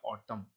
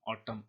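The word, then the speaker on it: autumn: हैं एक होता ऑटम इसका प्रनंसीएशन ध्यान से देखेंगे ए यू डी यू एम और एन तो यहां एन होता है वो साइलेंट होता है मतलब उसे पढ़ा नहीं जाता है लिखा तो जाता है ऐसे लेटर को कहते हैं हम साइलेंट लेटर इसको पढ़ेंगे हम ऑटम ऑटम इसे एन सीजन वेयर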